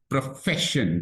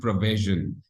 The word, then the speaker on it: profession: Profession, the F has to be emphatic, not provision.